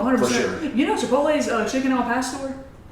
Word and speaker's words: Chipotle: but I chipot chipot you said oh man they're going to make fun of you for say it like that you're done it's Chipotle Chipotle uhhuh Chipotle uh the